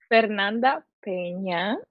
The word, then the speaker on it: Fernanda Peña: Yes, I am Fernanda Pñena.